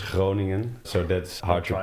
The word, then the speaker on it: Groningen: Yeah, we've got the harder G, so that makes it like this Groningen.